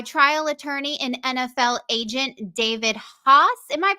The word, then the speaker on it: David Haas: being joined by trial attorney in NFL agent David hos am I pronouncing that right David you are you are